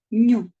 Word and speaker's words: ню: пишуть на другий раз читається ця буква к ню запишіть собі ню оце